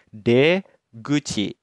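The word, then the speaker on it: 出口: mulut dibacanya Gucci jadi kanji ini itu dibacanya D Gucci nah kanji yang warna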